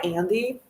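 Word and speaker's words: Andie: Um, so yeah, I go by Andy. I spell it A N D I E.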